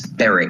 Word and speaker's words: Berwick: here on your pronunciation it's baric is it Beric baric yes ber Tweed is the